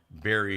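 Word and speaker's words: Barrie: It's out on Berry Hill Road. That's spelled B-A-R-R-I-E, but it's Berry Hill Farms, where they sell berries, B-E-R-R-Y, or I-E-S, depending on whether you're buying more than one.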